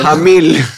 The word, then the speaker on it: Jamil: que se en las redes sociales es pronunciar pronunciar bien el apellido el nombre el nombre nombre jamil jamil Ah bueno esa sí no me la